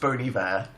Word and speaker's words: Bon Iver: recently, which is apparently Bon Iver. People have been tweeting me that recently. It's pronounced Bon Iver.